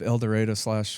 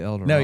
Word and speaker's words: El Dorado: I think your focus is people of El Dorado / Wichita. So, Sure. did I say that right? El Dorado? Or do y'all say El Dorado?